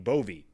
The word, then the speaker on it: Bove: But it was really funny because my friend Nick pronounces his last name Bovey, B-O-V-E. His brother, Vinny, pronounces their last name Bove. So back to back, they introduced the best man, Vinny Bove, and the groom, Nick Bovey.